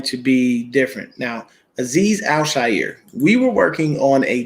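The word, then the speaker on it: Aziz Al-Shaair: aziz alzheimer and people you gotta say his name al shair it's not al shire okay it's not s-h-i-r all right you just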